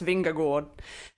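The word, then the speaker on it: Vingegaard: how lionel did earlier i actually messaged my danish teammate emma norsgaard during the stage to ask her to send me a voice note of uh the pronunciation which i think is jonas vinger gord so the vingagor sensational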